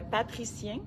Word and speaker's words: patricien: il s'appelle le Patrician Patrice comme magicien mais avec le mot Patrick au début je m'excuse de ma prononciation c'est pas très très chic euh patricien puis c'est le le